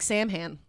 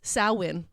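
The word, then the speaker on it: Samhain: first lesson in gaic that looks like saman but it is sawin um oh like slancha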